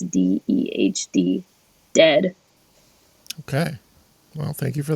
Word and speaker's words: Dehd: a half, I think, is Dead. It's spelled Dehd.